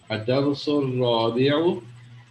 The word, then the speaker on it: الدرس الرابع: الدرس الرابع. الدرس الرابع. All right, don't forget You have the alif lam, so you have to join straight to the ra. The lam is silent here, right?